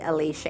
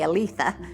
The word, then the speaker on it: Alicia: name happened to be Alicia Ann, so that's how Lisa got her name. But we started calling her Lisa because my grandfather couldn't pronounce her name. He would say Aletha, so we shortened that to Lisa.